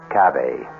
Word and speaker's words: cave: i equate cave with the latin word spelled the same way c-a-v-e but pronounced cabe it means beware our